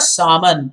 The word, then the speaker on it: salmon: caviar but also the salmon again l is silent please remember that she talked